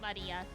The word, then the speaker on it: Maria: Of course, Maria is pronounced Maria.